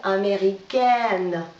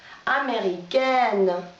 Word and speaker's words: américaine: Américain, на конце согласно, значит прибавляем получается américaine. Произношение меняется. Еще раз. Américain, носовой звук américaine.